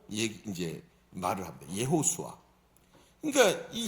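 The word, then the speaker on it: יהושע: 다 아시는 분은 다 아시지만 여호수아는 히브리어로 예수아라고 얘기 이제 말을 합니다. 예호수아. 그러니까이 히브리어 발음이 우리가 쓰는 말하고 조금 다르죠.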